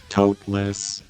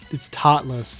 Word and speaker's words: totless: Your 3 cards are they toteless. Oh yeah, I forgot to mention that. You know how I told you it's pronounced toteless? It's not. It's totless. There's it's T-O-T, not T-O-T-E.